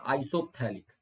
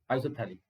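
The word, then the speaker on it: isophthalic: और अगर एक यहाँ पर हो और एक यहाँ पर हो तो इसको बोलते हैं आइसोथैलिक, पी साइलेंट होता है, तो आइसो PHTHALIC, आइसोथैलिक।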